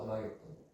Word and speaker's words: 아마겟돈: 왕에 대해서 또 노출을 하는데 무깃도 아마겟돈. 아마겟돈. 무깃도라는 지역인데 헬라 사람들이 하르 무깃도 하르가 산이라는 뜻이고 무깃도는 무깃도거든요. 하르 무깃도를 발음할 때 아마겟돈이라고 했다 해서 아마겟돈이라고 써있고요.